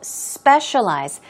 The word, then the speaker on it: specialize: go on to specialize stress goes on the first syllable specialize it means to concentrate